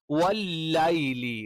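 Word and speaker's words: والليل: ഇനി വല്ലൈലി യ നാവിന്റെ മധ്യവും മേലെ അണ്ണാക്കിൽ ടച്ച് ചെയ്യുന്ന സമയത്താണ് വല്ലൈലി വല്ലൈലി വല്ലൈലി എന്ന ഓതാറുണ്ട്. ലേ എന്നുള്ള ഉച്ചാരണം എന്ത് ചെയ്യുന്നില്ല അറബിയിലില്ല.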